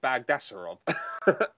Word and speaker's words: Bagdasarov: Yeah, because I pronounced it Bagdasarov. Yeah, I went with it last week and see if we got it right. So he agreed, so I'm guessing that's right.